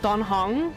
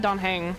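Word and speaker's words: Dan Heng: I've been saying it wrong all this time. Don Hong? I said Don Hang.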